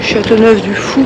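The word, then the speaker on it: Châteauneuf-du-Faou: Après une bonne nuit de sommeil, on part en direction de Châteauneuf du Fou, paraît-il que ça se prononce.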